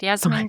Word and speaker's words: Yasemin: Am I pronouncing it? Yeah, you're perfect. Yasemin.